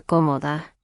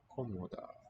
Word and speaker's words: cómoda: Cómoda, and we note the Cómoda. accent mark shows it's not the middle syllable, not the usual one before the final, but the first here.